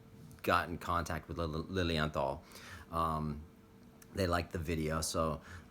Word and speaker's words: Lilienthal: I actually pronounced it Lily Anthem Berlin on this watch when I first got it and goo talking at me again saying hello but it's actually called Lilienthal like with a tal Lily and thought oh